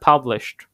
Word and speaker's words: published: بصي الاي دي احنا كده publish احنا ايه مفيش اي او يعني كده بنطقش هنحط الاي دي نطق بس الدي فهنا published هي اصلا الاي دي هنا بتتنطق تي كمان